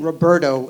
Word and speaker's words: Roberto: So in Spanish, my name Roberto is pronounced Roberto.